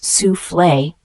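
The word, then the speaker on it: soufflé: sufle is a noun it is pronounced as sule a sule is a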